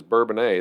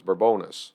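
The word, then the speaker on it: Bourbonnais: part you have to say the village is bourbon a the township is burbonis yes yeah so that is right which is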